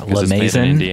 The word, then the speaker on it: La Maison: specialty, a La Maison, as I've been told by you it's pronounced. I don't think I ever would have said it that pretentious. I would have said, like, La Maison. No, it's French.